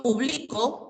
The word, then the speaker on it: publico: Cuando pronunciamos público, público, equivale a un conjunto de personas. ¿De acuerdo? Público equivale a un conjunto de personas. ¿Ya? Y si digo publico, publico equivale a la acción de publicar en presente.